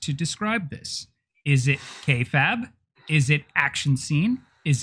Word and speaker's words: kayfabe: It's kayfabe. Kayfabe. It's not Kayfabe. K-Fab. Kayfabe. I thought the E was silent. It's not.